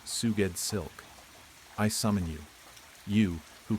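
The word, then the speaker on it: Sgoueddslk: S G O U E D D S L K, pronounced Suged Silk.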